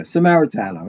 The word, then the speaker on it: Samaritano: Samaritano. Am I saying it right, Lou? Perfect. I don't think that's perfect. The second time. Yeah, Samaritano.